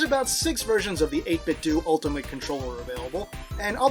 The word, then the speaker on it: 8BitDo: the 8-bit2 ultimate controller and yes it is pronounced 8-bit2 I looked that up to be sure it used to be 8-bit doe when they launched earlier but apparently that sounded